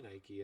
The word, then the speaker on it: Nike: I'm like, no, it's actually Nike and it has been forever.